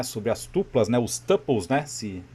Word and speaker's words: tuple: Falando aqui, né, sobre as tuplas, né, os tuples, né, se pronuncia tuple, mas a gente digita ali tuplas.